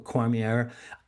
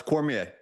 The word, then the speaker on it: Cormier: I want to bring my my wonderful guest on right now, Matthew Cormier. Matthew, first of all, uh tell me, am I pronouncing your name right? It's Cormier.